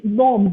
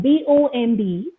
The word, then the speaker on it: bomb: few words uh it's bomb b o m b okay the last B is silent it is bomb com